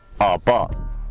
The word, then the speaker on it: Abarth: bat is it's and our bars 595 it's a silent H think Homer Simpson reflecting on his son ah bars so it's a